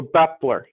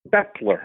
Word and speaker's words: Baeppler: Uh just like that A is not there. The A is silent. So, Bepler. Bepler, okay, great.